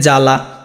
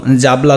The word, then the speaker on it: জ্বালা: তারপরে দেখো এখানে জ্বালা, এখানে যে জাবলা বলো, জাবলা তো উচ্চারণ হয় না, এটা উচ্চারণ কি হয় জ্বালাই হয়।